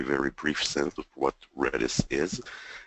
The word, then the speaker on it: Redis: about British is how you pronounce it it's pronounced redis and it's open source you can get the